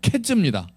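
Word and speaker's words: קֵץ: 여름 과일은 카이츠예요. 카이츠. 너가 뭐가 보이니? 카이츠가 보이는데요. 그랬는데 끝은 캣즈입니다. 이스라엘에 캣즈가 올 거야.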